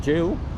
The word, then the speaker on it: gaol: the old prison, or gaol, or gal, or whatever they call it. Old. Is the old way of jail? Yeah. Oh, okay. Yeah, they spell it G-A-I-L. Jail. Yeah, like in rail, tail.